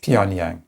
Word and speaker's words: Pyongyang: Um and th- this reporting comes after uh after Moscow and Pyongyang, as I can't pronounce North Pyongyang. Pyongyang.